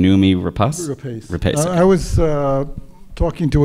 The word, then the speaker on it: Noomi Rapace: toel McAdams and numi help me with the pronunciation numi rapas I was uh talking to another director who